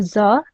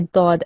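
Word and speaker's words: ض: It's not a za, it's a dod, okay? That's the correct way of saying it.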